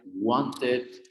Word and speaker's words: wanted: It, started, decided, invited, wanted. Es así. Want. ¿Con qué letra termina? Sí. ¿Se pronuncia o no se pronuncia?